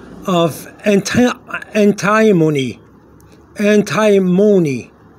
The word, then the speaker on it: antimony: chemical um for the elements name of anti antimony antimon it's like alamon but but antimon okay a n t i m o n y n antimony or antimony depends how you want to say it okay